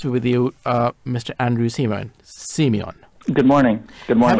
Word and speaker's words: Siemion: Andrew Siemion. Good morning. Good morning. Have I pronounced your name correctly? Yes, Siemion. Siemion. Right.